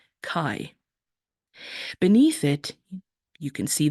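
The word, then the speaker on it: καί: Greek word it's angelized this is how it's pronounced Kai beneath it you can see the word Kai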